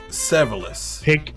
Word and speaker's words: Sevelus: I heard it pronounced Sevels and I've heard it pronounced Sevelus. Okay, so anyone who says Sevels or Sleeves or any of that, they're wrong.